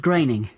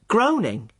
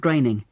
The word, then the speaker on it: Groening: thought it was pronounced groaning well I did too for a long time but no it isn't it rhymes with raining Matt Groening okay that's the name